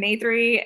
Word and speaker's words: Natri: I'm Natri. It's name and three like the number for the folks wondering about pronunciation.